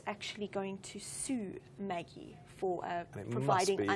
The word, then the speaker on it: Maggi: Maggie, Maggie who knows how it's noodles. pronounced? It's Maggie. It's Italian. Okay. Don't know why it's Italian, but it's from Nestle. But anyway, I think it's meant to sound Italian. I didn't realise noodles were so popular in India.